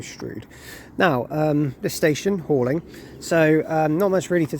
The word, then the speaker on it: Halling: for us I said helling it's actually pronounced hauling so hauling will be our next